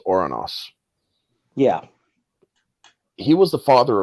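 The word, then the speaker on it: Ouranos: Gia and oros or or as many people love to call him Uranus laugh it up folks but his original or his original pronunciation was oranos yeah he was the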